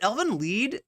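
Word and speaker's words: Elfen Lied: Is it Elvin Lied? Like, that's the German pronunciation, right? Lied? Or is it, people say Elvin Lied though, but I think it's pronounced Elvin Lied.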